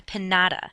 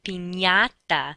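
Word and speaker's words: piñata: party is not a panada that's not what the candy falls out from it is a pinata that NY sound sort of like how we pronounce lasagna and why ok the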